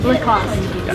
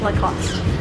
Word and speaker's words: Lacoste: Lacoste. So no E in the end. No. Lacoste. Remember? Lacoste. Or if you want to say it with like a little bit of a French accent, Lacoste.